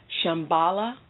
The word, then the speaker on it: Shambhala: have some videos on meditation to help you Shambala org slash meditation Shambhala is spelled s H a M as in Mary